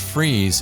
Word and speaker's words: Fries: graduate of Davidson College although his name is pronounced Freese it is spelled like fries F RI es when